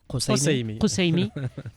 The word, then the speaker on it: Kassoumi: Comment on prononce Kousseimi ? Kousseimi.